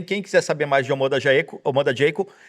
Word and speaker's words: Omoda Jaecoo: Mas Omoda Jayco é a pronúncia correta.